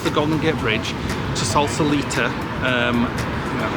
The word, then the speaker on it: Sausalito: I should really ask Google how you pronounce that. It's going to take us across the Golden Gate Bridge to Sausalito, that's how you say it, for a little